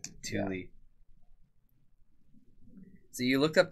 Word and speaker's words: Tooele: Most people call it like Thule. Thule. Thule.